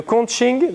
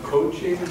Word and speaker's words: conching: thing, the conching, that's the work of the conching that it is.